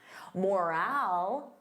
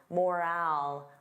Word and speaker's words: morale: Morale, repeat after me, morale. So notice that long owl, morale, morale.